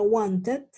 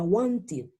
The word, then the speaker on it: wanted: Si termina en T y si termina en D, como need, ¿sí? Yo los voy a pronunciar como ID. Es decir, estas dos que yo agregué van a sonar como ID.